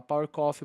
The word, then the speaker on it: PVVR Coffee: Então eles falam Power Coffee, mas se escreve PVVR Coffee, essa brincadeirinha aí 2 vezes forma um W.